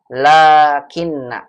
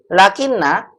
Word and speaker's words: لكن: satu lagi di sini lakin lakin bacanya begitu ya lakin bukan lakinna lakinna salah lakinna lakin lakinna saya